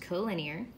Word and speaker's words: collinear: extra definitions here so this is pronounced co-linear so collinear points are